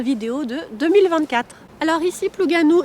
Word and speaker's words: Plougasnou: de 2024 alors ici pluganou s'écrit plugasnou mais ne faites pas ça ne prononcez pas le S vous prononcez pluganou voilà les gens seront